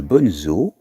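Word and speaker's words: Bonnezeaux: Oui, mais le Bonzo, qui s'écrit B-O-2-N-E-Z-E-A-U-X, est un vin blanc liquoreux de la Loire.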